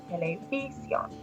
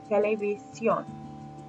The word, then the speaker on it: televisión: If it ends in an N, we expect the second to last syllable to be stressed. So it would go something like televisión. But the word has evolved where the last syllable gets stressed. So we see the accent over the O, the strong vowel in that syllable, televisión.